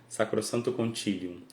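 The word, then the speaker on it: Sacrosanctum Concilium: Para pronunciar latim certinho, Sacrosanto Concilium.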